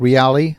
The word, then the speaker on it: Reali: Another California startup called Reali, that's spelled R-E-A-L-I, set up shop in San Francisco.